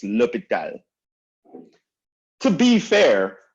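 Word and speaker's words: L'Hôpital: people call it the hospital or hospital or something like that no it's lupita to be fair the translation is hospital but it's not pronounced hospital right so for l'hopital's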